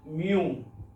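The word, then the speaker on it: 미음: আগে আমি এটা দিলাম এটা হচ্ছে কোরিয়ান বর্ণ উচ্চারণ গিউক গিউক বাংলা হলো গটা হলো নিউন নিউন বাংলা হলো ন এটা মিউম মিউ ওম আর বাংলাতে যদি বলেন এটা হচ্ছে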